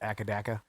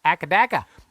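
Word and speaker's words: AC/DC: did you not get akadaka who's akadeka that's the australian pronunciation of ac dc oh okay they call it akadaka cause i'm back in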